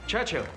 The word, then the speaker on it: Churchill: Churchill. That's how you say it, all together like that. I'd heard church and hill, but couldn't find either.